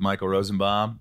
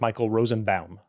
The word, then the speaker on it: Rosenbaum: And when my car reads your name back, it says Michael Rosenbaum. The robot says Baum. You know, Baum is the right way to say it.